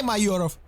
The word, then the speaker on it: Mayurov: huge comeback by nicolai mayurov remember the name if you were asking yourself how to pronounce agent nickname it's actually again okay remember again and his name is nicolai mayuroff okay try it just try